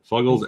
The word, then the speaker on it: Fuggles: one is from uh fugles or fugles however you want to pronounce I've heard people say it both ways I'm pretty sure it's fugles though fugles and warlock yes Brewery